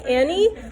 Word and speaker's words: any: So when we say Annie, we're kind of saying it quickly and it's hard to hear that sound at first.